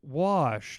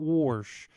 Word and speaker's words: wash: and I was like oh it's it's it's it's wash not warsh and she was like